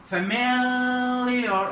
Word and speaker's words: familiar: معروف، دي معناها familiar طبعا الاستريس على الام اي familiar ايه بنعمل استريس على الحرف المتحرك اللي هو الاي familiar familiar طبعا انا ما مدلكش عشان تعرفها بس familiar familiar.